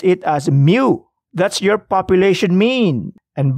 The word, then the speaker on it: mu: is that how do you pronounce it you pronounce it as mu that's your population mean and by the way